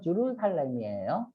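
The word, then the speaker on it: Jerusalem: 들어서 어떤 도시냐면 메카나 예루살렘이라고 하는데 원래 발음은 주루살렘이에요 예루살렘에도 다 알아들어요 카발라와 같은 도시 다른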